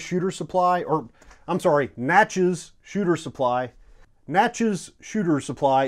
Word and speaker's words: Natchez: It's available over at Natchez Shooter Supply, or I'm sorry, Natchez Shooter Supply. Natchez Shooter Supply is located in Natchez, Mississippi. It rhymes with matches.